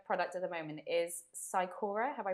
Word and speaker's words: cycora: So, um your signature product at the moment is Sikora. Have I pronounced that correctly? Yeah, Syikora.